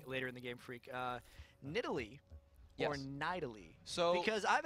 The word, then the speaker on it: Nidalee: And it was okay, look, we want to pronounce the champion Nidalee.